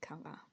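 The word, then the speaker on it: καλά: The stress is usually in Greek on the last syllable, kala.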